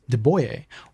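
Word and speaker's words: de Buyer: For that, I recommend De Beyer, which is pronounced De Boyer, or Matfer.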